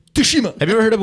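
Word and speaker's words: Tsushima: they're so ghost to tashima I'm playing it right now suima you don't pronounce the T toshima have you ever heard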